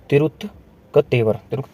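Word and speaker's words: திருத்தக்கதேவர்: इनकी प्रोनाउंसिएशन थोड़ी सी डिफिकल्ट है। ये है तिरुत्कतेवर।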